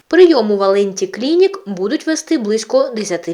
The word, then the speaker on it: Валенті: ми прагнемо до Європи клініка валенті це скорочено від Валентини але наголос саме на є прийому валенті клінік будуть вести близько